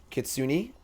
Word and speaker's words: Kitsune: The E at the end is pronounced. Kitsune.